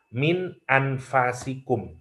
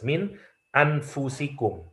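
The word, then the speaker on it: أنفسكم: Jadi yang pertama, fa-nya bisa dibaca fathah, min anfasikum bacanya, min anfasikum. Oke. Yang kedua, baca seperti qiraat Hafs, min anfusikum.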